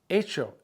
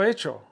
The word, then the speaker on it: hecho: it, lo he hecho, since H-E is silent, and then the H-E, the H is silent, so you got a, lo he, and then hecho starts with an H, that's silent, and then you go with the E, so those two E's run together.